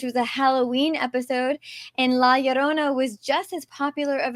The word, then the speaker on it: La Llorona: Yeah, and I have to say that Vanessa pronounces the title of this story perfectly, La Llorona.